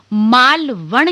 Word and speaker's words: मालवण: आपको बता देते हैं बहुत सारी जगहों पर इसको आप मालवण की जगह माल वन लिखा हुआ देखें लेकिन इसका चूंकि यह संस्कृत शब्दों का सम्मिश्रण है इसलिए इसका जो उच्चारण है वह है माल वण अना लगता है और आगे अगर